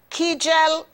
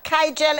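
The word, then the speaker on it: Kegel: sex in your 50s remember to do those kyel exercise kaiel exercises I'm probably pronouncing it incorrectly it's k e g e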